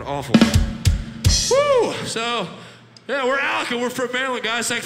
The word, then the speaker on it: Alukah: It's pronounced Alukah because we fucking suck at grammar and spelling.